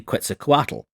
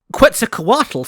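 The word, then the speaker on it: Quetzalcoatl: most notably Quza Kuatal. At least that's how I was taught to pronounce it in primary school. Quz Kuatal seems to have been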